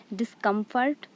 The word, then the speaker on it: discomfort: The next is discomfort. Here discomfort. So dis is unstressed, come is stressed, and fort is unstressed.